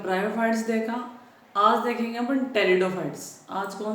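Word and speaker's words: Pteridophytes: देखा आज देखेंगे अपन टेरिडोफाइट्स आज कौन सा देखेंगे टेरिडोफाइट्स टेरिडोफाइट्स अब देखो जो टेरिडोफाइट्स है वो पी से स्टार्ट होता है पर पी क्या रहता है यहां पे साइलेंट रहता है ठीक है अगर इनकी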